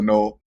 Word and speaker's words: Noel: So Noel, if you can answer it, please. It's pronounced Noel, but you guys haven't met me before, so it's all good. I heard Noel.